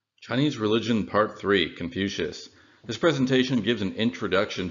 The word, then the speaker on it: Confucius: the time and so Confucius is a latinized spelling of gong foods and the English pronunciation was even farther from what it would have been in Latin which would be something